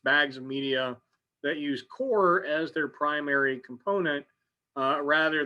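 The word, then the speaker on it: coir: starting seed is called core uh it's spelled co which always makes me think i'm mispronouncing it uh but core is the way i've heard it every time uh and that is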